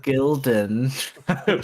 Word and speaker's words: Gildan: Rhymes with Buildin. Gildan. Building? Building.